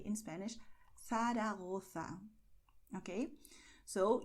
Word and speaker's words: Zaragoza: you say in Spanish Zaragoza. Okay, so you're going to lisp here when you see these combinations.